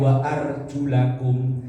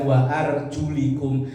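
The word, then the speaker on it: وَأَرْجُلَكُمْ: ayat yang wamsahu biruusikum kalau kita bacanya Wa arjulakum ada yang baca wa arjulikum dari itu aja bisa menimbulkan perbedaan kalau kita orang ahlusunah membacanya waarjulakum maka kaki wajibnya dibasuh namanya basuh itu ada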